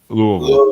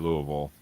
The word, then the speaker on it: Louisville: I think to pronounce it properly, you have to pretend there are no vowels. Louisville.